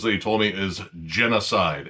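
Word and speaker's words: Jenna Side: he told me is Genocide. And it's spelled j e n n a space side. So, it's like a woman's name, and I don't know, that's kind of clever.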